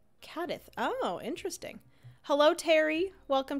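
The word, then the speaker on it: Cádiz: just the Brits though I know there's a regional Spanish accent that pronounces Zeds as th I did a Spanish class in uh cadis cadis and they pronounced it cadth oh interesting hello Terry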